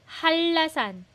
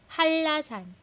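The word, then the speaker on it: 한라산: 제주도 제주도 제주도 제주도 and last라 hanlasan hindi siya hanra hanla halla naging double l siya halasan thank you guys for answering the questions po.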